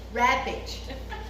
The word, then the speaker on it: Rappage: I am so sorry, but I cannot pronounce your last name. Rapage. Oh. What? Rappage. Okay. Rappage donated to the city of Peck. We all are saying it wrong. I'll murder it every time I